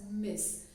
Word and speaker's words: Ms: use Ms right so Ms is is uh pronounced as Miss so guys let's make our life simple Ms